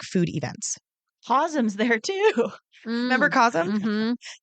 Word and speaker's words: Cosm: I will never forget Cosm. I want to go so bad. That's a callback to last week's episode. Anybody who hasn't listened, get on back there. It's spelled COSM. It's not me mispronouncing chasm.